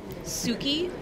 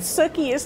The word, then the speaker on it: Sookie: house my first question Suki suie Suk rhymes with cookie so Southern it's a